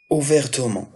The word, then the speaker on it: ouvertement: علاش نطقت ouvertement ماشي بحال malheureusement, bassement, parfaitement. لأن هاد le E, il est à l'intérieur du mot, il est précédé de deux consonnes. غ الت وهادوك les deux consonnes sont différentes. إذا داكشي علاش من الضروري نطق ال E واخا هادي غير لغة معيارية.